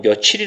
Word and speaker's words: 며칠: 여러분들이 몇 일이라고 바르며 여러분도 발음은 며칠이 라고 합니다 바로 며칠이 라고 하잖아요 어디라고 바람 안하죠 금속에 이게 맞다고 생각하시나요 그쵸 요게 맞는 거에요 게 며칠이 맞는 겁니다 그리고 원래 우리 국어의